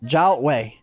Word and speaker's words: Zhaohui: Zhaohui? Okay, I have been saying it wrong. Zhaohui. Alright, I gotta remember to say it correctly. Zhaohui.